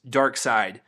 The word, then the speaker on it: Darkseid: or like the DC's Darkseid, which is the villain who is spelled D-A-R-K, dark, and then looks like someone with dyslexia try to spell the second half, S-C-I-D.